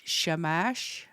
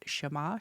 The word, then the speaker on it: Shamash: At sunrise, you speak words of a ritual that calls on the Mesopotamian god Sheamash. I know I butchered that, but Shamash Shamash and it's his job to take the ghost to the underworld.